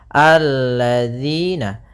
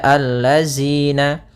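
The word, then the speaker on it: الَّذِينَ: Maka kita baca di sini alladzina. Kemudian pada lafal di sini hati-hati dalam pelafalan jangan dibaca allazina. Yang sering terjadi kesalahan adalah membacanya zal dengan zai.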